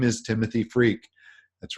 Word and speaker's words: Freke: his name is Timothy freak that's right the last name is pronounced freak and I wanted to